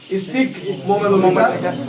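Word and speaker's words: sphygmomanometer: Speak দন্ত শয়ে ফ গ স্পিক মোমেনো মিটার। ভেঙে পড়লে পড়া যাবে, এমনি উচ্চারণ করতে গেলে কঠিন লাগবে।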